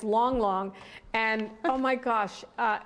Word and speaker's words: Lang Lang: is Long Long folks it's spelled why it's not long Lang Lang but it's long long and oh my gosh